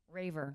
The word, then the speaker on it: Raver: your last name wrong how did you just say your last name raver okay good that's what I thought I said and I was but it sounded like Reaver and I was like